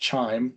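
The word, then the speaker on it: QIIME: like the one I mentioned here which is pronounced chime chime 2 have come out and really taken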